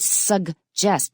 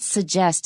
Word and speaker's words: suggest: Just like the word suggest, not suggest in American, suggest, recognize. Remember to say those G's.